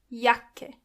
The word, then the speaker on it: Jacke: When you see a C and K together, they are pronounced as K. Jacke.